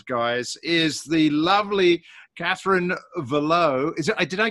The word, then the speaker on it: Valleau: from us as guys is the lovely Catherine Ville oh is it I did I get that right by the way very close its Bello rhymes with shell oh oh that's right yeah I